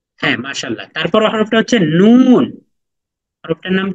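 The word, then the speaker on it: نون: মিম মিম মিম হ্যাঁ মাশাল্লাহ তারপরের হরফটা হচ্ছে নুন হরফটার নাম কি নুন নুন নুন তারপরের হরফটা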